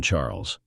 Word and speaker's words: Charles: fixing my Gaze on Charles you're so thoughtful my dear husband she replied Charles pronounced the French way as charl struck me as your